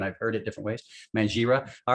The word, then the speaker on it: Mangira: so here's my question the g in your last name is it a silent g or is it a hard g i've heard people pronounce